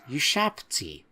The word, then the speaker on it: Ushabti: So, thanks for pointing out, there is no second A, and we should be pronouncing it Ushabti.